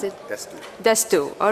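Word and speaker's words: D'Astous: To pronounce it? DÁstous. DÁstous.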